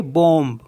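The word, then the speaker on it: bombe: जैसे बी ओ एम बी तो इसको पढ़ेंगे बम बम मींस बम और सी ओ एम पी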